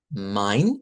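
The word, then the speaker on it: mein: Va así min. Esta se pronuncia como I.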